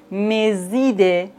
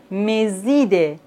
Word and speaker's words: mes idées: La liaison entre un adjectif possessif et un nom, par exemple, mes idées, ces histoires. Ici, on doit faire la liaison. Mes idées, ces histoires.